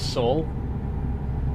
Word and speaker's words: Saul: that from uh but my name is Saul s l to rhyme with Paul uh but I'm very